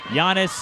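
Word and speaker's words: Giannis: the Greek freak yes Yanis is how you pronounce it thank you Yanis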